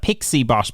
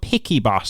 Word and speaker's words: PiccyBot: the app is called picky bot is it correct correct now the whole idea was that it was uh it's it's a picture bot and then we make it okay let's make it picky bot to be yeah